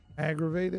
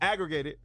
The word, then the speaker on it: aggravated: Aggregated. No, it's not aggregated. What is it? It's aggravated.